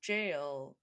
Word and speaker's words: gaol: And then sometimes I'll hear people be like, it's in the jowl, as in the jail, Gaol.